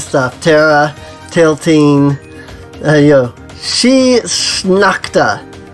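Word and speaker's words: Sidhe Sneachta: Terra, Tiltine, you know, She Snakta was how this is pronounced, apparently. So it was very interesting looking up some of these words. Garrick. So She Snakta, though. I never would have guessed. So, but yeah, there's a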